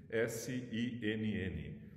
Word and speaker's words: Sinn: Em alemão, Sinn, S-I-N-N. Parece o sin do inglês, que é o pecado, né? Até alguns filósofos fazem piadinha com isso, mas em alemão se pronuncia Sinn, S-I-N-N.